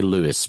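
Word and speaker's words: Lewes: We say Lewis, which is not so different to the way you you're pronouncing it in your script, I think. Yep. We call Lewis here.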